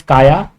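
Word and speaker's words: Caja: however some pronounce it because j is pronounced as y some will pronounce its kacha only so i will pronounce this kaya so the kaia is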